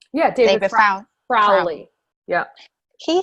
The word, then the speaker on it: David Rowley: Am I saying his name wrong? Yeah, David Rowley.